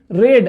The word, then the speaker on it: read: तो story was being रेड। अब रीड की थर्ड फॉर्म होती है रेड, स्पेलिंग रहती है सेम, READ, रेड, तो स्टोरी वॉज बीइंग